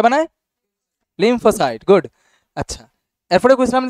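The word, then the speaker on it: lymphocyte: এন্টিবডিস ডবলিউবিসির মধ্যে কে বানায় আসার হইব লিমফোসাইট উচ্চারণ হয় না লিমফ ও সাইট সন্ধি বিচ্ছেদ করে পড় আচ্ছা ইংলিশে সিলেবেল ভাইঙ্গা ভাইঙ্গা পড় লিমফ ওসাইট লিমফোসাইট এন্টিবডি কে বানায় লিমফোসাইট গুড আচ্ছা এরপরে বলছিলাম যে লিমফোসাইট আবার আমরা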